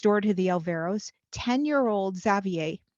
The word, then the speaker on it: Xavier: One day, next door to the Alvaros, 10-year-old Xavier, is that how you pronounce his name? Xavier or Xavier? Yeah, Xavier. Okay.